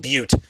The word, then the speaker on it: Butte: Well, it's pronounced Butte, but it's spelled Mudbutt, and I'm not kidding.